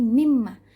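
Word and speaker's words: مِمَّا: misalkan kita kasih contoh mimma minus sama makan ada dua huruf tuh ada nun sukun bertemu dengan mim jadinya dia Idgham Bighunnah nah dibacanya digabungkan dua huruf menjadi satu Jadi mimma tapi bukan sekedar baca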